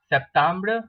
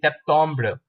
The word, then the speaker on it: septembre: You do not say Septembre, you say Septembre.